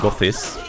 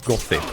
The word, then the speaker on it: gothi: gothis by the way the proper pronunciation for that is goth not got it just like made simpler because they have the sign of like when you have Thor then it's not like the th sound It's Kind the weird